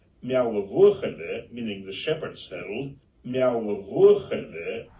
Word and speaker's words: Meall: I will now drop in the actual pronunciation. Meall, meaning the shepherd's hill.